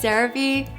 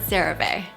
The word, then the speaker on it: CeraVe: Take those two together, ceramides and MVE, and that's how they came up with the name CeraVe. So it is pronounced CeraVe, not CeraVe.